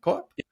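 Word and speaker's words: CoAP: You know, how do you pronounce co-op in English? It's this way, co-op? Yep.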